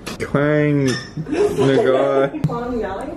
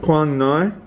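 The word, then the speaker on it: Quảng Ngãi: Quang Ngai. Quang Ngai.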